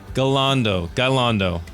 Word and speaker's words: Gayaldo: with that is the mayor of Rocklin, Jill Gayaldo. So close. So close? So close. So close, but so far away. How do you really say it? How do you say it? Gayaldo. Gayaldo.